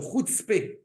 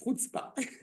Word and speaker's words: chutzpah: du tout de chutzpah, n'est-ce pas de chutzpé, comme disait la grand-mère de mon épouse, Aléa Shalom, anglophone, qui demandait how do you say chutzpé in Hebrew. Ça, chutzpah.